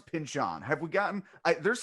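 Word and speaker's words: Pynchon: name when he has that cameo on the simpsons i believe he says pinchon but you said there are things out there saying it was pinchin or i feel like that's how you were pronouncing it before i i i barely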